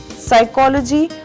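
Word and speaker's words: psychology: साइकोलॉजी, मनोविज्ञान, pneumonia, ज्वर, इसमें पी साइलेंट है।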